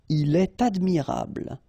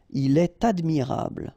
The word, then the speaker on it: il est admirable: So like here, for instance, il est admirable, ta, il est admirable, okay, elle est intéressée, all right, so in all these cases you should make the liaison, and in that case it's with t.